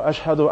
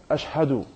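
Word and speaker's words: أشهد: la ilaha illallah, wa ashhadu anna Muhammadur Rasulullah. We might have perfect Arabic pronunciation. Ashhadu. No, brother, you say it like Ashhadu.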